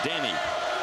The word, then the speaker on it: Denny: A lot of people think we're just nicknaming him Denny, but he's from Puerto Rico, and that's how you say his name, Denny.